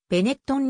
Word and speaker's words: Benetton: 企業グループである実際の発音はベネットんに近い 1965 年にトレヴィーゾ